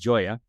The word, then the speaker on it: Gioia: Ben Joya and his name spelled G O I O I A, but it's pronounced Joya.